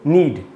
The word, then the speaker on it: knead: अब रोटी कैसे आपको पता ही है, आटे को गूंदते हैं, गूंदने को क्या बोलते हैं इंग्लिश में, नीड, KNEAD, उसमें के साइलेंट होता है, नीड का मतलब होता है गूंदना।